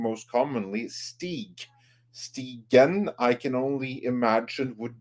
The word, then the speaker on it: Stigen: The proper pronunciation for your surname is Stigen.